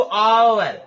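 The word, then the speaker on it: hour: An island यहां पर एच ओ यू आर तो स्टार्ट तो है कंसोनेंट लेटर से लेकिन पढ़ क्या रहे हैं तो पढ़ रहे हैं इसको आवर यहां पर एक साइलेंट है।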